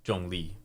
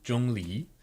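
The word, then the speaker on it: Zhongli: and different characters wow so this here is Jung Le so for anyone who wants to pronounce it correctly Jung Le um Jong Jong Le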